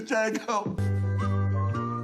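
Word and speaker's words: Django: number seven for me jeno D is silent oh you so of you oh Jesus let me kill this you ain't going to get way with this Jango Jango you up it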